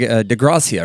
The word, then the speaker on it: DeGracia: And Greg DeGracia, right? Yes. Is that how I pronounce it? Yes.